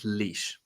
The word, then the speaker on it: Lysh: It's Lysh. Lysh. Alysha is my name.